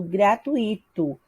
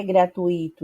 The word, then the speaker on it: gratuito: exemplos que eu trouxe algumas pessoas tendem a falar a palavra gratuito colocando um acento no i' falando gratuito que é uma forma incorreta do emprego da palavra gratuito não é gratuito e sem gratuito ou seja a forma de falar a pessoa utiliza de forma incorreta ou seja um erro fonético o segundo exemplo é